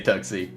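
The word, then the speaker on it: TUGC: good Andre P says how do you say the ticker tugsy t-u-g-c tucks do you say tuxy or duck I do say tuxy because yeah Saucy Fredo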